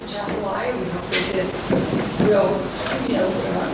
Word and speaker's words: Atchafalaya: and we want everybody to know how to pronounce Atchafalaya.